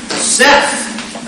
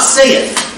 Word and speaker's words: saith: Seth. Not saith. Saith is S-A-Y-E-T-H. This is Seth. Maybe you already knew that. So, just... I've heard people say saith a lot in, you know, two syllables over a single note.